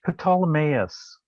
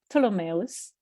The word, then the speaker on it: Ptolemaeus: It's Ptolemaeus. Ptolemaeus. Because it's after the astronomer Ptolemy. But it's, okay. Yeah, that PT is tough. Oh, it's tough, yes. There is a lot of, Ptolemaeus, which is a beautiful crater to be looking at.